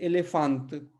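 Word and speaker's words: elefante: तो इसको देखिए हम कैसे उच्चारण शुरू कर रहे हैं, एलेफांत, एलेफांत, ठीक है, एलिफांत, तो ए।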